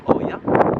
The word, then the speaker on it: Ia: Otherwise, maybe pronounced as Oya. In Greek, when we put an O and an I, it directly becomes I. So it is pronounced Ia, yeah?